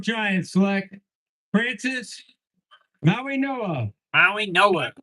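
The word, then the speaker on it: Mauigoa: Maui Noah. That's actually how you pronounce it.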